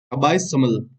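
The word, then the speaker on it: abysmal: अबसाइमल, ठीक है, अबाइसमल, ठीक है, इसको ऐसे बोल देंगे हम, ऐसे प्रोनाउंस करेंगे, अबाइसमल, ठीक है।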